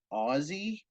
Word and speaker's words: Aussie: right and then oops nobody thought to ask the Australians how to pronounce Aussie yeah and we just found out 12 seasons in that it's Aussie whoops and I just I